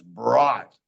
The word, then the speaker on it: brought: The U doesn't say anything. It's brought.